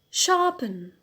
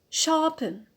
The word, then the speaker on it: sharpen: one a good second verb sharpen sharpen so here the stress is on the pin out the pinal that is the second from the end why we have placed